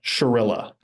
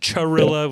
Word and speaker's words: Chirila: the question on everybody's mind how do we pronounce stepan's last name it's uh Shilla Shilla okay yes Stefan sherill Stefan Shilla not Chilla which is what I think I was saying